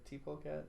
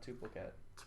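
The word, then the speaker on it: tpolecat: I always call him T-Pole, or did I say it right? T-Polecat, not Tupolecat. Polycat.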